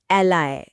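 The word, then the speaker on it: ally: इसका उच्चारण है एलआय एलई एलय यह शब्द तो इंटरनेशनल न्यूज़ में बहुत सुनने को मिलता है।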